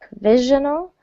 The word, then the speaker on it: provisional: good good yes so stress on that second syllable provisional I really I don't